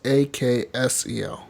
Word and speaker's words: Axel: It's not like Axel like AXEL. It's AKSEL.